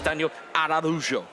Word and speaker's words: Daniel Araújo: me this in Bali, it's Daniel Araújo. Okay. Is how you pronounce it.